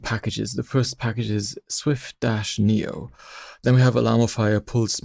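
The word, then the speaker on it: SwiftNIO: Interestingly, the very first word in Swift-Neo is an open source network application framework, and Swift-Neo there is spelled like Swift Data or Swift UI. It's Swift and then capital NIO.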